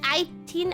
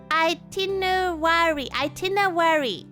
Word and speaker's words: itinerary: Is it itin? Oh, it's I, not in. No wonder I was having trouble. Wait, wait. Yeah. That's what Sopensi said. Itinerary.